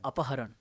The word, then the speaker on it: अपहरण: Pronunciation देख अपहरण।